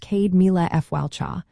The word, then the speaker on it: Céad Míle Fáilte: For example, you might hear Céad Míle fáilte, pronounced Céad Míle Fáilte, which means 100,000 welcomes.